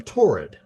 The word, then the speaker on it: Taured: presents a passport from Torrid, Yep. a country that Not the store Torrid, no, but more it's like tourist, spelled more like tourist.